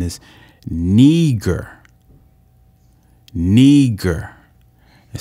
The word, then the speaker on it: Niger: it says niger but it says it's not pronounced niger its pronunciation is neager neger it says it's of latin origin it